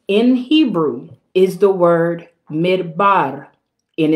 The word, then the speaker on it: midbar: So now, the word wilderness in this text, in the Hebrew is the word midbar, midbar. It's spelled M-I-D-B-A-R.